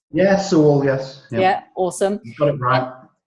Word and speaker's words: Sewell: And is it Sewell that is that how you pronounce? Yeah, Sewell, yes.